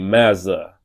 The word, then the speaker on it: Mazza: MAZZA. It's like Maza.